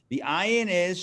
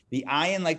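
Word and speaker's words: עין: The ayin, like the aleph, is a silent letter. So it just makes the sound of the vowel, which is the ah.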